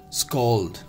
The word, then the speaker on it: scald: here is scold right this is not scald it's go pronunciation s k a w l d clear this is scald not scaled guys clear